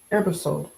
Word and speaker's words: Ebersole: Ebersole.